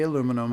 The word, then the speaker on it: aluminum: In American English, it is correct to say aluminum.